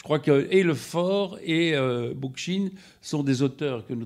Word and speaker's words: Bookchin: mais que chez Bookchin, je ne sais pas comment on prononce Bookchin. Bookchin.